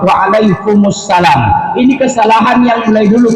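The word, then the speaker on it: Waalaikumussalam: Ketika diucapkan salam, Assalamualaikum warahmatullahi wabarakatuh, kalau dijawab Waalaikumsalam salah. Diaminnya nggak boleh dimatikan, harus berbaris dhammah, Waalaikumsalam.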